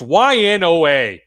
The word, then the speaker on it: Ynoa: threw this picture is the pronunciation on the last name it's ynoa anyway the twins the